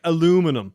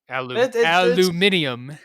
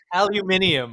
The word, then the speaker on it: aluminium: Why do Americans say aluminum? That's not how it's fucking spelled. Aluminium. Aluminium.